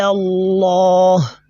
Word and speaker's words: Allah: I said Fata'ala Allah. So this is what we done to the lam there. That is the heavy pronunciation of this lam in the word of majesty is known as a at-tafkhim, right?